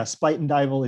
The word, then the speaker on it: Spuyten Duyvil: So yeah, Spuyten Duyvil, it's Dutch, I believe, for spitting devil, which is a neighborhood up in Harlem on the Hudson River.